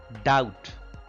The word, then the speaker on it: doubt: it means senseless senseless doubt here again b is silent doubt to have some